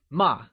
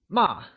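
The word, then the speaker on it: 骂: that scold translates to MA and is pronounced using a falling tone can you try and say MA it is said with a falling tone like ma great so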